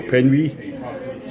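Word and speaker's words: Penwig: to New Quay, and I've been told the hotel can be pronounced the Hotel Penwy.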